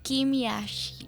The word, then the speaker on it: Kim Yashii: So paano ba dapat siya binibigkas? Yashi Kim Yashi Kim Yashi ganon ang tan parang bitin na Yashi ganyan.